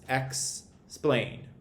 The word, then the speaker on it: explain: Explain, for instance, is broken up into two syllables, explain. Now, because that AI is saying the letter name of the A in terms of the sound it's making, that's where the accent goes.